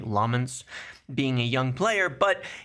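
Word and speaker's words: Lammens: Benjamin Šeško being a young player, Lomans, we finally have his name pronounced correctly, Lomans, being a young player, but it was looked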